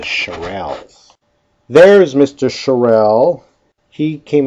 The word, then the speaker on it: Charles: temperature and volume and you might call it Charles law in Michigan but the rest of the world we pronounce it charel there's Mr Charelle he